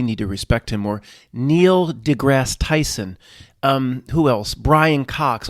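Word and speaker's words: Neil deGrasse Tyson: properly because we need to respect him more Neil degrass Tyson um who else Brian Cox all of these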